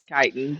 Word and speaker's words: chitin: And for the record, Bernie, I'm aware it's pronounced chitin, but we Mm-hmm.